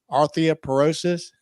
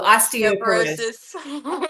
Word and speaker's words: osteoporosis: your Southern here so I hope I don't butcher this word arthop porosis did I say that right oh osteoporosis I was I was testing